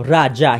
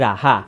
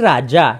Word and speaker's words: raja: At tamang narinig nyo, raja, hindi raha. Pagkat ang raha ay ang paraan ng pagbigkas ng mga Kastila. Kaya ang mas angkop at mas tamang pagbigkas ito ay raja, hindi raha, raja.